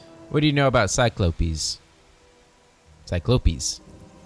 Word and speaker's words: Cyclopes: Although, sir, it's pronounced Cyclopes. Cyclops, come on.